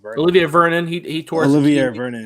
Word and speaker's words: Olivier: Oliver, how do you say his last name? Olivier Vernon.